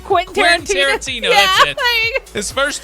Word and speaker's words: Quentin Tarantino: Number 3, Quentino Tarantino. What? I can never say his name. Quentin Tarantino.